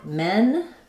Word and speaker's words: men: So for men, the vowel is kind of central.